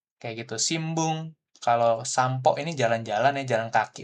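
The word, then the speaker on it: さんぽ: Nah, ini pakainya sampo bacanya, bukan sanpo gitu ya. Jadi ada memang bunyinya seperti itu pakai M. M kalau kita di Indonesia itu sampo. Walaupun hiragananya N gitu ya.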